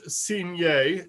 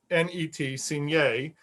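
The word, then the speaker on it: Cuignet: The new chief investigator, by the name of Louis Signet, it's spelled C-U-I-G-N-E-T, Signet, quickly discovered that Hubert Henry,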